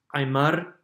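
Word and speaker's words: ayeemár: As such, the noun ayeemá, food, surfaces with its linker, r, and high tone, to be pronounced ayeemar.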